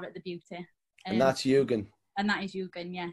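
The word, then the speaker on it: Yūgen: YUGEN.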